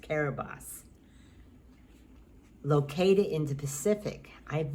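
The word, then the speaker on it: Kiribati: nation of carib carabas it's spelled k-i-r-i-b-a-t-i but pronounced caribos located in the pacific i've never heard of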